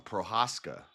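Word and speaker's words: Procházka: Yeah, I've been saying his name wrong. Prohaskca, not pro.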